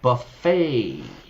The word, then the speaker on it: buffet: I stayed at the hotel and there was the most amazing breakfast buffet. Buffet, not buffet.